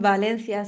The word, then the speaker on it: Valencia: So when you say that you're a lawyer in Valencia, did I say it right?